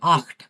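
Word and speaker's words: acht: বেশিরভাগ ক্ষেত্রে আ, ইউ এবং ও এর সাথে যদি সে যুক্ত হা থাকে বা এর সাথে যদি সে হা থাকে, তাহলে ওটা ক্ষয়ের মতো উচ্চারণ হয়।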